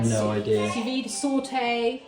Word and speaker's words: sauté: do you say that it's the French word sauté you basically if you